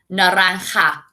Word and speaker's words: naranja: Remember, the J makes a sound. Rojo, naranja.